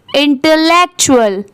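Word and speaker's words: intellectual: और यहां पर टी यू ए एल को क्या पढ़ेंगे? चूलल। यहां पर इसकी साउंड क्या आ रही है? चूल की। इंटेक लेक्चुअल। इंटेलेक्चुअल।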